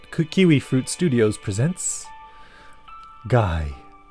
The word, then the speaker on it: Gyee: we fruit Studios presents guy okay so we know it's pronounced guy now do I like this